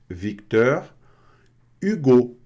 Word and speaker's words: Victor Hugo: Esse é um pouco mais difícil para a gente, né? Victor Hugo. Victor Hugo, né? Então, tem esse Czinho mudo aqui, tá? Victor Hugo, tá? U, com som de I, Hugo.